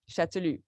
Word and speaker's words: Chastellux: pronounce his name and especially not to pronounce the s or the X chatulu and so he is